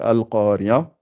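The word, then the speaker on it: القرية: Donc, on remplace, on fait un fatha ici. Ça veut dire al. A et al. Donc ça fait al-qariya, mal-qariya. Et le A, il disparaît ici. Là, vous avez remarqué, puisque comme j'ai fait mal, j'ai fait le ma et directement le al.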